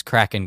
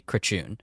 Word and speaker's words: Kračun: And he was like, it's Kraken, guys, but it's actually Kračun, but actually say Kraken.